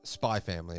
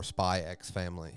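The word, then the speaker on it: Spy × Family: But it is Spy Family or Spy X Family, however you really want to pronounce it. I grew up like Hunter x Hunter. I really want to say the X, but it's probably Spy Family, I'd imagine.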